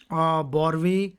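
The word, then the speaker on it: Boerhaave: इसका एक और नाम होता है बॉर्वे सिंड्रोम, ठीक है। बॉर्वे सिंड्रोम भी बोलते हैं आप, और जो प्रोनाउंस करना चाहते हैं, ठीक है, BOERHAAV, बॉर्वे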